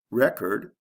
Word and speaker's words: record: Record, record. Is there a sound change? Yes. With the first one, there's a short E, and the second one, there's a long E.